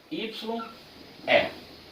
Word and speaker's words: eye: E-Y-E. Pronúncia eye. Teacher, parece eu. Eye. Parece. Mas não é, tá? São homônimos. Palavras são parecidas em som somente.